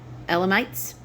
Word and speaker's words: Elamites: parthians Mees Elite uh e l a m i t e elamites that's how I would pronounce it residents of Mesopotamia Judea